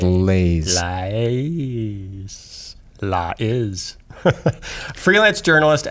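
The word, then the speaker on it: Lais: i s yeah I it's just lays Li Li is freelance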